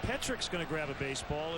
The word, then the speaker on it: Petrick: By the way, it is pronounced Petrick. I asked him today. You would think maybe Petrick, but it is Petrick, just like it's spelled. P-E-T-R-I-C-K.